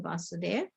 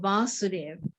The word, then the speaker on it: Vasudev: and vasudeva is krishna so there's a long a the long a represents krishna and the short a represents the father right so so oh